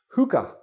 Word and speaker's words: hookah: this is a hookah it's pronounced hooka okay if you ever